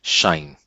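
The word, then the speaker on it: sinh: definitions for sign hyperbolic or my student like to pronounce it that shine yes I hope everyone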